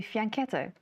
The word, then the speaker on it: fianchetto: German Latin, it's fianchetto. In Italian Latin, it would be fianchetto.